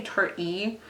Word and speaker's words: Tarte: I always want to say Tarte. When I first saw it, I was like Tarte, and people are like, no, Tarte. I'm like, there's an E. You pronounce that. No, you don't. I was wrong.